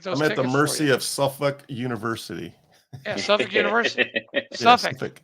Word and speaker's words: Suffolk: at the mercy of suffk University yeah suff University suff suff it's it's suff yeah if you were in the Northfolk area Hampton Roads area they would let you know it's not Suffolk suff it's like when you